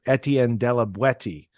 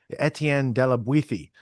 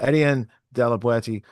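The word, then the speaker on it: Étienne de La Boétie: I spent many years calling the the author Etien Deweti because I thought that's how it was. But if you uh get all learnified on it, Etien Dewiti, you got to say it like you're from Baralona. You got to say it like that.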